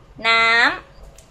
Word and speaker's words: น้ำ: Water is high tone, go up. น้ำ, น้ำ, น้ำ, and then one bottle is is contained in a bottle.